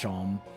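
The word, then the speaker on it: Seam: The name Sham is pronounced Shom in this little And this is my little shop.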